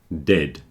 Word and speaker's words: dead: a pronunciation problem dead ends in a d dead when there's a d at the end of the word it's not pronounced like a th so there is a difference between dead and death death the second one your tongue is between your front teeth F making that noise but when you say